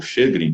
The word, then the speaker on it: Sjögren: não são articulações, por exemplo, a síndrome de Sjögren, né? Ou Sjögren, né? Os puristas aí falar a pronúncia correta, né?